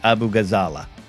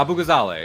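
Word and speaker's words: Abu Ghazaleh: Uh, and uh the the the rise of Kate Abu Gazala. Zale. I'm learning to say it right. I I Yeah, Abu Gazale.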